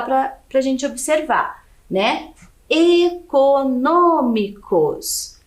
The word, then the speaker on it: econômicos: pra gente observar né econômicos então a última sílaba cos penúltima sílaba mi e antepenúltima é um no Ok econômicos então é a antepenúltima sílaba aqui é a mais forte e ela é acentuada